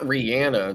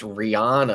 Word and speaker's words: Rihanna: Mike says Rihanna wasn't born today. Oh No, I mean the Barbadian singer that we all know and love, Rihanna. I don't like it. That's not Rihanna. That's Rihanna.